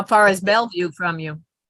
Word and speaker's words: Bellevue: convention how far is Bellevue from you it's close to Kathy yeah and Uncle used to live in he called it Bella View or is to drive us all crazy still mispronounced it my neighbor is Kirkland